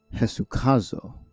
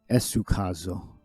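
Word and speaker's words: ἡσυχάζω: We got Eta is pronounced with an H. Hesukazo. I would have said Esukazo.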